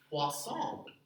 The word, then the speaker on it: Poisson: i do this um this is known as a hua distribution that's as good as my french pronunciation gets so i apologize if it is trey mal but that is a french word for fish um lambda is the